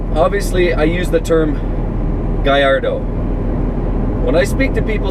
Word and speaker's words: Gallardo: But if I use the term Gallardo, I'm not really doing the name justice. However, on the other flip side, if I use the correct pronunciation, Guyardo or Guyardo or Guyardo, as many people like